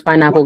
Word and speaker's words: pineapple: You guys see why we say pineapple? This one syllable ends with a with a silent e. And we have apple. Pineapple.